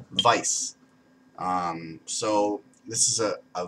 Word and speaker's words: Weiss: it's not actually supposed to be spelled or pronounced Weiss it's supposed to be spelled Vice um so this is a vice a bison